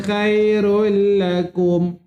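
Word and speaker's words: خير لكم: Khairul dibacanya khairul lakum. Kha khairul lakum. Banyak tuan puan bila saya mengajar personal tuan mengaji kat sini dia tersilap. Kha dibaca tebal jangan muncung mulut. K bukan kha bukan ke bukan khale cantik.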